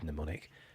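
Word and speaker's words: mnemonic: it easier it's kind of pneumonic language I'll spell that for you because it's a really irritating word neonic there's a oh get off there's a um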